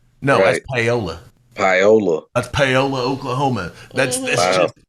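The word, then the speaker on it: Paoli: like Miami like Miami Florida right yeah they pronounce it miam Miama miam and there's city called paully like p a o l i you say paully right no that's poola poola that's poola Oklahoma that's I think you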